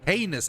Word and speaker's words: heinous: Heinus. I think it's heinus. Heinus. Heis. Heinus. No, it's it's heenus. Heinus. Heinus. It's like penis but heis.